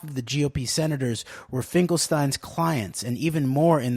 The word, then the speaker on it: Finkelstein: friendship I asked him whether it was Finkelstein or Finkelstein with a long I and Arthur characteristically replied quote if I was a poor Jew it would be Finkelstein but since I am a rich Jew its Finkelstein unquote he'd plucked me out